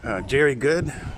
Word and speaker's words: Jerry Good: a video yesterday from jerry good which actually rhymes with very good i'm going to go